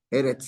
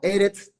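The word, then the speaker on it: אֶרֶץ: Eretz, segolado. Entonces acento en la primera. Eretz, tierra.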